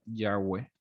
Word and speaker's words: Yahweh: Entonces, algunos teólogos lo consideran como la pronunciación más aproximada sería Yahweh.